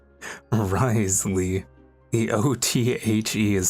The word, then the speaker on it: Wriothesley: So basically, he has 4 silent letters in his name. Wriothesley.